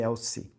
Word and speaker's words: Elci: Elci ou Elzi que pronuncia? Eu falei Elci.